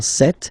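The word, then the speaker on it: cette: sir or then set feminine set so you can notice that fanatically these two are pronounced the same way okay set here and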